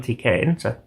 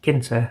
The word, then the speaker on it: Tkinter: calculator using Python and TK enter or Ginter I think it's pronounced I wasn't expecting much